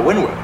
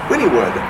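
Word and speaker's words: Wynnewood: um so then we went to uh uh wynwood wynwood wynwood or sorry sorry winnie wood what are you supposed to pronounce winningwood oklahoma winningwood i welcome this for the phonetic pronunciation it's winnie wood yeah so yeah and we searched the skies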